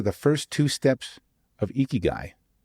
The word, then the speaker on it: Ikigai: So, Tim Tomiro is the author of How to Eeky Guy. Yes, it's pronounced eeky guy if you've heard of it before.